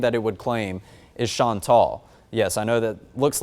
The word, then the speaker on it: Chantal: the third name that it would claim is Chantal. Yes, I know that looks like Chantal, but that is the correct pronunciation of it.